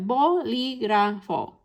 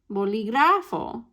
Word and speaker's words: bolígrafo: So if we break this down, then we end in an O, a vowel. So that means we're in rule number 1. So if you think back to rule number 1, where should that spoken stress go? It should go here, right? Bolígrafo. But notice, that's not how I said it. I said bolígrafo.